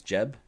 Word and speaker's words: Geb: a good reason to geb gif who knows how to say this for so maybe it's jeb is that what you're saying it's jeb jeb and jiff um so uh i'm